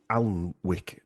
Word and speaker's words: Alnwick: But the Sir Henry de Percy, first Baron of Alnwick Castle spelled Alnwick, but I think it's pronounced Alnwick Castle in Northumberland.